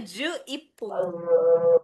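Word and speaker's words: 十一分: Berarti bacanya ju ipung.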